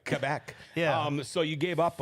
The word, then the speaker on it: Quebec: Hey, at least you say it right, Quebec.